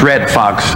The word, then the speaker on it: Redd Foxx: got my name correct it's red fox r-e double d f o double X and I'm belong with